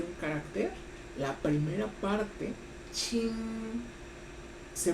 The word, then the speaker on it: 青: El primer carácter, Qin, se pronuncia con el primer tono del chino.